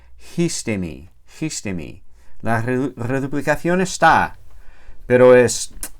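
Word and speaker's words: ἵστημι: Esta primera sigma desaparece y se queda ahí sola la iota. Y para compensar, la iota toma un espíritu rudo. Entonces esa palabra se pronuncia histemi.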